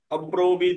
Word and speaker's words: अब्रवीत्: এবার আসবে ইদম, বিশিদম, ইদম, রশ্মিটা রয়েছে, রশ্মির উচ্চারণ রস্বই আসবে, তাহলে বিশিদম, ইদম, অব্রবীত, ব্রবীত হবে না, অব্রবীত হবে।